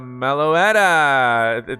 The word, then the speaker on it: Meloetta: Yeah, that's a Meloetta.